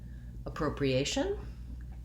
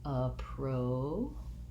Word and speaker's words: appropriation: This word follows the rule of penultimate syllable stress. Second to last syllable gets stressed. So we have the stress on the A-tion. That means our first letter A says schwa, appropriation, appropriation.